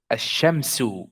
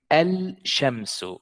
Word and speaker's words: الشمس: I did not say al-shamsu. I said ash-shamsu. That means that the lam is silent here.